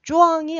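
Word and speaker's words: 壮: 쪼앙이 안 들릴 수도 있어요. 쪼앙이라는 발음이 짱조.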